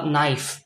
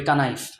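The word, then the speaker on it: knife: সে নো বলবে না সে বলবে কোনো অথবা নাইফ নাইফের উচ্চারণ বলবে কানাইফ এরকম আরো ভুরি ভুরি শব্দ আছে যেখানে আপনার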